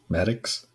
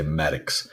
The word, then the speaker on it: Maddox: the other way and you say Maddox I love it I love it rhymes with addicts um so he had